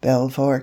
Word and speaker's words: Belvoir: your beaver alluding to belvoir castle the splendid seed of the duke of rutland which in the language of the clay is pronounced precisely in the same way as the name of that animal whom man robs of